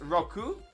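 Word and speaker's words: Roucoups: In French, it's Roku. in the anime, and most people pronounce the P and S, but the man who translated Gen 1 and 2 in French went public several times saying it's silent, which is logical, because it's after the plural word coup, which means hits, where the PS is silent.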